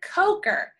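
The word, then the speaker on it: Kocher: That is a coker. Let's look at how it's spelled.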